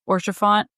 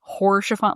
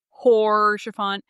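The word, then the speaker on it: Haurchefant: I know she also she noted that I pronounced orchant I since corrected it as hor shaant like hor shaant and I did but I'm pronouncing it better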